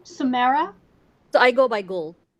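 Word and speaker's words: Gul: you pronounce your name samara i go by gold it's g-u-l yes could you spell that again g-o-u g-u-g-u-l g u l okay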